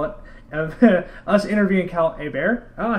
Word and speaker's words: Hebert: guess you can call it us interviewing Cal a bear oh I said it right a bear you did y I get the gold star